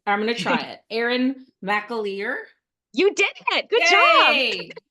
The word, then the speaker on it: Erin McAleer: Erin McAleer. You did it. Good Yay! Yay! I'm like a host that's remiss in asking pronunciation.